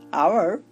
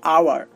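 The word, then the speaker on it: hour: দেখুন আমি দুইটা উদাহরণ দিয়েছি, আওয়ার, অনেস্ট। তো আপনারা একটু লক্ষ্য করুন, এখানে এইচ বসেছে ঠিকই, বাট কোনো কাজ করছে না, কাজ করছে পরের বর্ণটা। দেখুন এখানে ও কাজ করছে, আর উচ্চারণ হচ্ছে আওয়ার, আর এখানে আটা হচ্ছে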